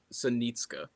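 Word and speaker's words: Psenicka: to follow is uh Max Senitka, spelled with a P. Yeah. Try to figure out where that where the P comes in.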